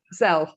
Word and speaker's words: Zelle: the Venmo or PayPal, or how do you pronounce the other one? It's Zelle.